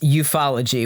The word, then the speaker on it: ufology: can't we got really if you look at it it should be pronounced ufology which is worse right ufo ology you it's bad that's